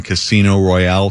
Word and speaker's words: Casino Royale: I finally had gotten my hands on a Belgian one for that 1967 Casino Royale comedy Bond movie. Uh, just learned, by the way, that Fleming pronounced it Casino Royal.